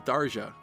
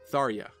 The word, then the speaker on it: Tharja: I've seen many fans point out that it would then make even more sense for the J to be pronounced like a Y, to be similar to her original Japanese name, Sarja, Tharja.